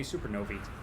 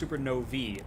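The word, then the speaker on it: supernovae: Uh, it is pronounced supernovi. That little ae at the end. It's like encyclopedia becomes a long e sound.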